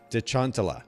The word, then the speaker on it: Detchantala: this right the first time your last name de chantala did I do that right yeah okay perfect